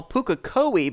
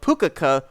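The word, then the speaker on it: Pukekohe: A track that I incorrectly back in the day used to call Pukokohe, but now have actually been corrected to the correct pronunciation of Pukokohe Raceway.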